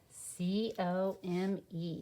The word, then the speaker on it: come: no e's not hopping over it's just there c-o-m-e says come so we had part may and